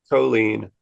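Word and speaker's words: choline: does somehow bleeding realization Chen how do you pronounce that chlo Chen huh colen colen c h o l i n e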